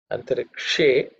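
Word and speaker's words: अन्तरिक्षे: In terms of pronunciation, antarikshe, that is again, Shav is with the tongue raised up, pointing upwards.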